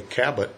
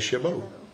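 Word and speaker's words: Chabot: how' you pronounce it it's from French or yeah well I would say cabat but he says shabbo yeah that's how I pronounced it but anyway that's his name Bob shabbo and he's a really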